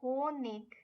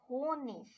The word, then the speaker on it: Honig: Ig, which is pronounced ig, but more commonly also ish. So words ending with ing can have ig and ish pronunciation. So der König, der Honig is one possible combination